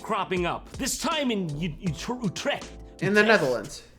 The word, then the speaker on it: Utrecht: How do you say it? I know it's not that. Utrecht. Utrecht. That's it. That's the one. That's the official pronunciation.